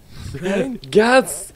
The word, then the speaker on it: Crane: Crane? Gazzy. Crane rhymes with train and brain and sane and grain and rain and plane and the other kind of plane and...